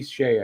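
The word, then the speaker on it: Skjei: Second pairing, Brady Skay. I don't know how you pronounce that. Brady Shea, I think it's pronounced. That's right.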